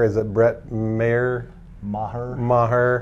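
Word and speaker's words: Maher: at Brett mayor ma ma her although PlayStation 3 will pronounce it Mar on NCAA football 2012 instead of ma her at least a good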